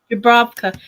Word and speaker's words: Dravka: Did I say it right? You did. Yep. You had that V sound in there.